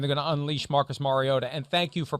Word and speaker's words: Mariota: to play and they're going to unleash marcus mariota and thank you for pronouncing it mariota i i don't want to